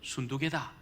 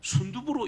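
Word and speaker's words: 순두게: 한 명은 요디하고 한 명은 순두개다 이렇게 말합니다. 그래서 어떤 분이 이 발음을 잘못해가지고 순두부로 읽는 분이 많아요.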